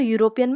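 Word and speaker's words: European: क्योंकि देखो यूरोपियन में जो ई से तो स्टार्ट हो रहा है। बट जब हम उसे प्रोनंसिएट करते हैं। यू पहले आता है यूरोप। क्योंकि ई क्या होता है? साइलेंट हो जाता है।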